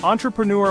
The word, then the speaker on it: entrepreneur: support chasing your dreams can we at least pronounce the word correctly so entrepreneur might look super intimidating but I promise it's